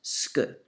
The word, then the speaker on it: ce que: So, ce que is very often pronounced ske, just so you know it.